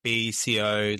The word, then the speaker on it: BCO: How did the idea of BCO London come about, and what was the initial vision?